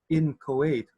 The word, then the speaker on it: inchoate: pronounce such a word Lu pronounces it with an emphasis on the CH as in lechon oscar pronounces it the way of the dictionary as in Kuwait or in Kuwait in Kuwait definition just begun and